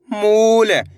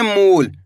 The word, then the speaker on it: मूल: तो मिलके बन जाएगा मूल। कैसे पढ़ेंगे? मूल। आया समझ में? इस तरीके से नहीं पढ़ना आपको। मूल। अगर आप मूल पढ़ दोगे तो छोटू उ की मात्रा का उच्चारण हो जाएगा।